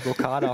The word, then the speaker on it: Blokada: Blockada? Ah, du hast das schon ganz gut gemacht. Also 1+ mit Sternchen. Blockada passt.